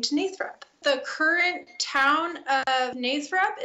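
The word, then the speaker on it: Nathrop: The town is pronounced Nathrup. It was founded by Charles Nachtrieb, who, when the early settlers were coming in, could not pronounce Nachtrieb, so they Americanized the name to Nathrup.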